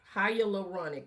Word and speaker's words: hyaluronic: I'm going to take this hy hyaluronic acid advanced clinicals hyaluronic hyaluronic. That's how you pronounce it.